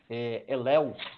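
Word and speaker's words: הֵילֵל: É uma tradução do hebraico que se pronuncia Elel, né?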